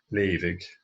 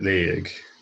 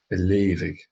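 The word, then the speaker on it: leughadh: A leavig is an untypical word in a way, in that the GH here is a V sound, leavig. You will hear it leig with a silent GH,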